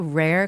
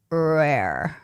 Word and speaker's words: rare: Koreans have a hard time pronouncing the right r sound. And I tell my students that you guys have to pull out your lips doing something like rare. Rare rare.